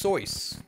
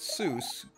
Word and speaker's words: Seuss: Seuss yeah they're yeah it's actually pronounced sois according to the German is well not just